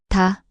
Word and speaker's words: 다: Example with the vowel a, this forms ta, pronounced ta. 다, 다.